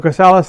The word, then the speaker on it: Chrysalis: uh just uh artists on the on the chrysalis label it's how you pronounce it chrysalis anyways uh it's got um